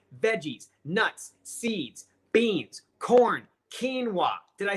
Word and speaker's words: quinoa: comment let me know what it is it's quinoa okay quinoa the UH just goes back for a long